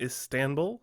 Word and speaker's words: Istanbul: He did test positive for the illness when he was at the international airport in Istanbul. And yes, I did say it right this time, Istanbul.